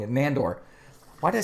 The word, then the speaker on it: Nandor: He was basically excited because his master, Landor? Again, see, I'm saying the name's wrong. Nandor.